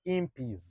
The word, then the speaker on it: Impis: So Impis is the actual pronunciation is supposed to be Impis. Like Impis. 1 Impi, 2 Impis. See? Not Impis. No. The Impis just became the contemporary pronunciation that Ugandans took, and we also went with it. But the correct one is supposed to be Impis. 1 Impi, 2 Impis, 15 Impis.